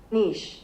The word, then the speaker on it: niche: Niche.